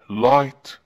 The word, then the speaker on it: light: GH يجب أن نلاحظ هذين الحرفين إذا وضع في وسط الكلمة يكتب ولا ينطق مثل light L-I-G-H-T، fight F-I-G-H-T كتبناهم لكن لم ننطقهم، لكن إذا وضع في